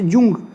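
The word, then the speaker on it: Jung: ये जूंग, कहीं कहीं पर आपको जूंग लिखा हुआ मिलेगा ऐसे, जूंग। ये जूंग भी यही है और यूंग भी यही है, अलग अलग प्रोनाउंसिएशन का अंतर है, अलग अलग बुक्स में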